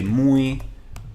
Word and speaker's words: muy: block for you here if you say mooey mooey mooey like Moo like a cow and then eat but all with syllables that's very so it